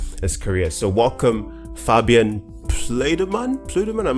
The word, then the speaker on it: Plüddemann: It's pronounced right. Plüddemann and not Plüddemann. Plüddemann. Puddleman.